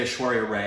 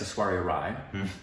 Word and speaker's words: Aishwarya Rai: Well, we used to say Aishwarya Rai, and it's Aishwarya Rai.